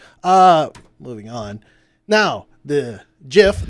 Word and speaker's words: GIF: Now, the GIF, the soft G is the right G.